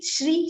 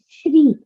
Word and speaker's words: Shri: correct is it three it happens because of our local language influence okay but in Sanskrit comes the word is Shri Shri am I right setting